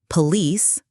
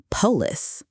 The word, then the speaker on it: police: Let's practice some common stress mistakes. Hotel. Hotel. Not hotel. Police. Police. Not polace.